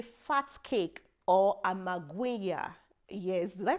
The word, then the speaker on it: amagwinya: In South Africa, you say fat cake or amagwinya. Yes, did I pronounce it well? Amagwinya, yeah, or magwinya, fat cakes.